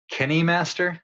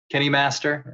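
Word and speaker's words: KineMaster: way to pronounce this I'm gonna say Kenny Master because it's kind of like cine like you know like cinema or but Kenny or kind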